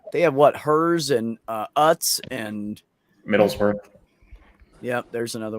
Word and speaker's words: Utz: My my one time of being married, I was married to someone whose last name was UTZ, and they pronounced it Utz, and very German Oot, and oot, Utz, UTZ, yeah, Utz, oot, oot, oot.